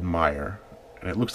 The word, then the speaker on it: Meijer: pronounce admires but I think it's just called Meijer and it looks like me I sure but it's Meijer apparently and so this water is from Grand